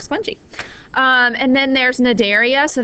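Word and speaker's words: Cnidaria: um and then there's Nadia so that c is silent when you say it um and these are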